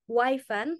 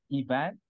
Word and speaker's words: Yvan: the curriculum um f of him Mr MEAP Wan PhD I hope I pronounce it correctly did I pronounce it correctly Mr Wan uh actually it's Evan it's Evan but it's okay I I can